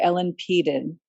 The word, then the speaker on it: Ellen Peden: so that was um i said her name wrong earlier ellen peden is how uh it was pronounced and um tiffany and